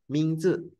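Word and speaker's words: 名字: 这 Nah, Mingzi, jangan Mingji, jangan Mingji ya. Mingzi.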